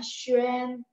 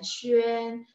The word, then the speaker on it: xuan: Jadi saya pikir yang praktikal, yang memang sehari-hari untuk orang-orang asing belajar masih oke, okay, kita bacanya xuan xuan ya, seolah-olah saya bilang a-nya agak e, agak dibaca e ya, xuan.